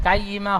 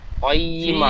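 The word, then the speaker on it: قيمة: ফাইয়া, ফিহা কুতুবুন কাইয়িমা, কফ যাবার ক উচ্চারণ হয়, কফ অক্ষর মুখ গোল করে পড়তে হয়, কাইয়িমা হবে না। কয়, কয়িমা, ফিহা কুতুবুন কাইয়িমা, ফিহা কুতুবুম কয়িমা।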